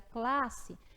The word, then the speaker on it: classe: é um encontro consonantal porque quando você pronuncia classe você só ouve você só pronuncia 1s tá mas não se